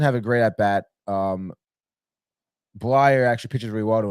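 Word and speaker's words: Bleier: Blyer.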